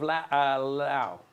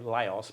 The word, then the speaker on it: Laos: capital of Laos. Laos. Laos. I wouldn't know. Some people say Laos, but it's Lao, is how it's pronounced.